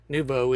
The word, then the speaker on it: Noovo: Nubo is how you say the word new in French, although it's spelled very differently.